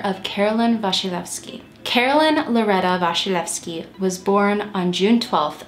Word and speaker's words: Wasilewski: it would be pronounced wasillewski but it is a polish last name and it is pronounced vashilevsky i did a little